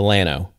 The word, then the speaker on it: Llano: go to the city there, you're going to Llano.